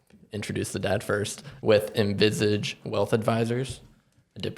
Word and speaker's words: Envisage: Neil and Adam, introduce the dad first, with Envisage Wealth Advisors. I did pronounce that right.